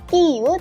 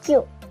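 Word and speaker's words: キュ: Bukan kiyu, tapi kyu. Kya, kyu, kyo.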